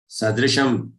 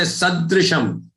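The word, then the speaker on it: सदृशम्: Jnanena sadrisham. Don't say sadrisham. Sadrisham. Sadrisham. Sada with that rishi's re. Sadrisham.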